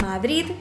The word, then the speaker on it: Madrid: sonido nos encontramos la opción de madrid' terminado con té esta es una variante que encontramos sobre todo zonas donde se habla catalán valenciano es decir en cataluña en valencia y en islas baleares ellos intentan marcar ese sonido de final pero por influencia del catalán terminan pronunciando una que al final es un rasgo muy similar con otras palabras catalanas otro tipo de refuerzo